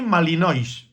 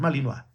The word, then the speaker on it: Malinois: Hay gente que no ve otra cosa que malinoa, como dicen por ahí, malinoish, ¿vale? Mal pronunciado porque es malinoa, lo cual quiere decir